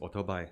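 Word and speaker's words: o͘-tó͘-bái: invented by the Japanese auto bike pronounced in Taiwanese Auto buy and that's what they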